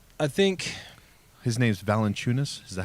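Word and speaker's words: Valančiūnas: Like, I think his name's Valanciunas. Is that how you say it? Yeah, Valanciunas.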